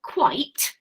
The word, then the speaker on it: quite: Which is different to the word quite, which is spelled very similarly. We've got Quite for quite. That's got 1 syllable, quite. But this is an adjective, quiet, meaning not loud.